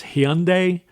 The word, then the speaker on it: Hyundai: It's Hyundai, the car company.